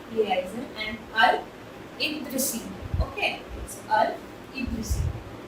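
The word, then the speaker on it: al-Idrisi: अल-इद्रिसी एंड अब ये कौन है, इनका नाम क्या है, ये कौन है, मैंने इनकी स्पेलिंग शेयर कर दी है। इट्स गिलामी they लियाइजन एंड अल-इद्रिसी। Okay, it's अल-इद्रिसी, तो ये ध्यान रखिएगा।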